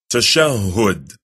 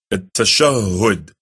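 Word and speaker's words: التشهد: They say tashahhud, but the correct pronunciation of it is at-tashahhud.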